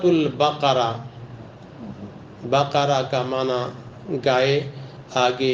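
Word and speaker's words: البقرة: ہے سورت کا نام۔ ہم اس کو یا تو قاف کے بجائے کاف کے تلفظ سے سورۃ بقرہ کہتے ہیں، تو یہ سورۃ البقرہ، بقرہ کا معنی گائے،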